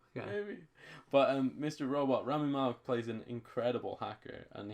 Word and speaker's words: Rami Malek: Remy Malek. Rami Malek, yeah.